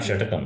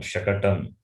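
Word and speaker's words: शकटम्: Not shatakam, shakatam. Sorry.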